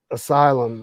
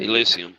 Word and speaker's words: Elysium: Elysium, yeah. Yeah, I know I said it wrong. I said Asylum. Elysium.